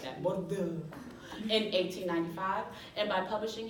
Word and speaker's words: Bordeaux: So you gotta say it like that, Bordeaux.